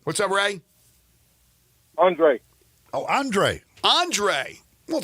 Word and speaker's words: Andre: R what's up Ray Andre oh Andre Andre well sounds what's up it rhymes with Ray there there's a ray in there you can't spell can't say Andre without Ray all right here we